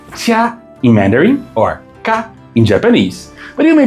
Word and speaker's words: 嫁: It's pronounced tia in Mandarin or ka in Japanese.